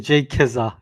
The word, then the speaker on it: JKZA: It's actually J Kizza, yes. Like Kizza. the Jizza and the Rizza.